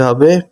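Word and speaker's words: who: করা বা নেওয়া এর সাথে ডাব্লিউ যোগ করতে হবে প্রথমে আর শেষে আইএনজি তাহলে রেসলিং রেসলিং মানে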